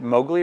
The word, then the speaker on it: Mowgli: granddaughter in England and asked how is it pronounced is it Mowgli or Mowgli and she on this you know